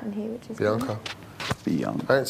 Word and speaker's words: Bianca: Most people say my name right in here, which is Bianca.